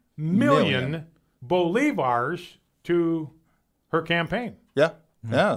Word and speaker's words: bolivars: Bolivars. Bolivars.